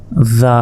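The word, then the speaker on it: ذال: দাল এরপর এটা দেখুন জিহবা বের করে উচ্চারণ করতে হবে এটা হচ্ছে চার আলিফ টান জিহবার আগা সামনের উপরে দুই দাঁতের আগার সঙ্গে লাগিয়ে দিন জাল জাল এরপর দেখুন এটা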